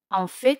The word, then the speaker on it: en fait: En fait significa de hecho. En fait. En fait, como veis, T se pronuncia en fait.